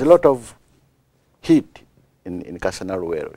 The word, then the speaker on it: Kasana Luwero: I'm going to have you pronounce it, Bishop, so I don't mess it up. Kasana Luwero. Kasana Luwero. Kasana Luwero.